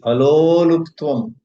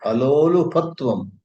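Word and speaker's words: अलोलुपत्वम्: Thirdly, aloluptvam. Oh, again I'm mispronouncing. Alolupatvam.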